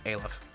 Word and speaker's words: Aleph: It's Zayin, Teth, Vav, Hey, or Hey, Vav, Aleph.